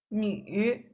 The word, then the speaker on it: 女: This one actually only the 3rd tone is being used. It's 女.